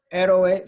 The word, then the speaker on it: héroe: Héroe, same thing, but instead of it being the last syllable it's stressed, it's not the second to last syllable it's stressed, it's the third from the end.